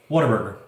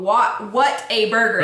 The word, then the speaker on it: Whataburger: Yeah, it's called What a Burger. That's they even say it in their commercials. That's what it's spelled. That's not what it's called. No, but they even say it in their commercials. Yeah. What a burger! Yep. But every Texan says Whataburger.